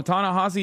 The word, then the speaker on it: Ta-Nehisi: okay that makes sense please don't call him tanassi it's tany no you're wrong the way you are the way you are supposed to no tanassi is the way you're supposed to say his